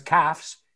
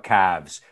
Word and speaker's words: calves: No es calves, sino calves. Como knife, ¿no? Sigue la esta de knife.